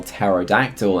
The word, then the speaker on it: pterodactyl: it looks fun some pterodactyls the p is silent in case you're trying to spell pterodactyl and you're confused well